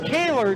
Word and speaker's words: Kohler: And Nick Kaler, excuse me, his name is spelled Kohler, but it's Nick Kaler taking the heat race from his 5th place starting position.